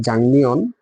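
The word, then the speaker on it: 작년: আর এখানে দেখেন যে জাংনিয়ন, ঠিক আছে, উচ্চারণটা হবে জাংনিয়ন, অর্থাৎ গত বছর।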